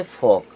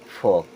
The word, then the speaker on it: folk: FOLK, ओ के बाद एल आ रहा है तब भी साइलेंट होगा और इसे क्या पढ़ेंगे, फोक। क्या पढ़ेंगे, फोक।